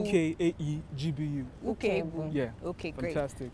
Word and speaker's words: Ukaegbu: You spelled Godson, that's Godson, then Ukaegbu. Ukaegbu. Ukaegbu.